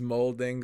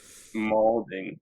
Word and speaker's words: malding: He's molding. What's the Twitch thing? Molding. Malding. 'Cause it's like- Malding. yeah, it's pronounced like balding because malding is mad balding.